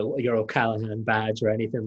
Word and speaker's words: O'Callaghan: It's funny you keep saying O'Callaghan, and I know I'm an American, but I have Irish ancestry, and I know how to say it. There's a G in the way they spell it, and I kind of